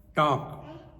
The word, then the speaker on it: talk: Dash p is silent Talk t a l k l silent wife husband is salad